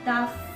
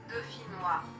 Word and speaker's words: Dauphinois: For me, I pronounce it like daffinoise, like daffodil. But let's check. Dauphinois. Dauphinois. Dauphinois. Dauphinois. So it's dauphinois.